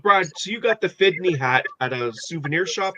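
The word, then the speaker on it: FDNY: so you got the fitney hat at a souvenir shop there uh this is a 911 yes I think it's on there the memorial fdn why is pronounced fitney oh okay that's why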